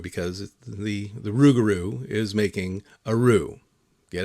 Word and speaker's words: Rougarou: title of this is it's spelled r o u x like a rue, you know, like you make a rue, you know, with to make gumbo. Um, so it's a rugaroo because the the rugaroo is making a rue.